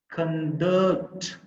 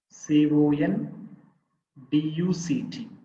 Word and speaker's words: conduct: it has two syllables for example conduct c o n d u c t conduct the last syllable is the stressed syllable i mean the second